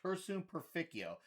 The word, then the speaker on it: Cursum Perficio: It's Cursum Perficio.